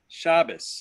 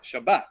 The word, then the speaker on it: Shabbat: let's take an example good shabus right shabis I've just accented the Sha shab good shabis right that would be a ash an ashkanazi pronunciation sefarim would pronounce it correctly in the Hebrew which in which case the the the last syllable is the accented one Shabbat right good Shabbat